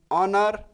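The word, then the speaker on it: honour: कई लोग सोचेंगे एन, एच के पहले एन का प्रयोग हुआ है, लेकिन इसका जब आप प्रोनाउंसिएशन करेंगे ऑनर का, तो एक स्वर के साथ शुरुआत होगा।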